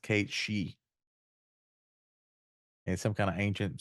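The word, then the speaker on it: Cait Sith: I always called him Kate Sith because that's what it looks like apparently that's not how you pronounce that apparently the name is Scottish and it's supposed to be pronounced Kate she and some kind of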